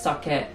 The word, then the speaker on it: sake: spelled k and like in Japanese we pronounce sake and this the guy